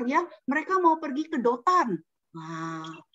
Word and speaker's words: Dotan: Oh iya, tadi kakak-kakakmu aku dengar ya, mereka mau pergi ke Dotan. Nah, bukan sedotan loh ya, namanya Dotan ini kotanya ya, tempatnya nih, Dotan. Daerahnya. Iya, Dotan. Terus bacanya akhirnya, bukan Dontan.